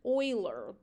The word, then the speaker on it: Euler: the Swiss mathematician Leonard Euler and it is pronounced Euler introduce the symbol I to represent the square